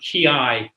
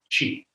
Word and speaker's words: ki: We use the term ki instead of chi. Mm-hmm. Why? I don't know exactly, but ki is the Japanese pronunciation of the Chinese character chi, and I, as you know, is harmony.